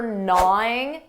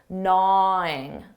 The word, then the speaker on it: gnawing: Notice that pronunciation for gnawing that G is silent, gnawing, gnawing.